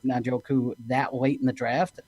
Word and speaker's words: Njoku: First of all, you guys saying Najoku is fantastic. That I don't have to correct anyone. So I think I learned from your guys' show how to say his name.